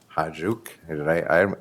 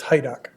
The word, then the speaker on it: Hajduk: I'd like to say that it's pronounced just like it's spelled, but it's Hajduk. So you have to kind of ignore how it's spelled.